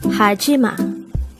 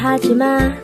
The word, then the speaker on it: 하지마: word number 1002 hajima haima and this is pronounced as a three syllable word the first syllable is